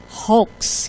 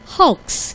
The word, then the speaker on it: hoax: Ya hoak gitu ya jadi kebiasaan dulu Oh itu hox itu hox gitu ya tapi setelah waktu itu saya search juga gitu terus ya Google ya dius wiki wiki di di pencet itu dia bacanya betul hoax gitu Jadi ini bacanya adalah hoax gitu ya ya kalau misalnya